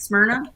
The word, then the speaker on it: Smyrna: in smyrna is that how you say it smyrna yeah i know where that's at yeah yeah